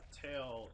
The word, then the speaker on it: Tael: So pronunciation, tail is Tail. tail. Thanks. It's supposed to be tattletale.